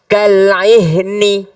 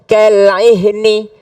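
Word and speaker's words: كالعهن: Sama ini tulisannya kalmuhli, kal'ihni. Tapi karena berhenti menjadi kalmuhl. Wa takunul jibalu kal'ihn. Bukan kal'ihni. Atau sama sekali hilang. Kal'ih. Tidak boleh. Karena tidak boleh mengurangi satu huruf pun di dalam Al-Quran.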